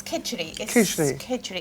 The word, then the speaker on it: khichdi: your mum used to make this uh and pronounce it for me please it's kidgery it's a simple dish it's like a a